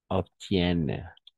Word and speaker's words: obtiennent: vous obteniez, il, elle obtiennent. ¿D'accord? Obtiennent. Y no pronunciamos en este caso, pero solamente vamos a poner énfasis el N.